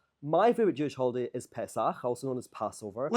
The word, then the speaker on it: Pesach: Pesach. Ch. Pesach. Yeah, you need the ch. You have to really lean into it yeah. at the end.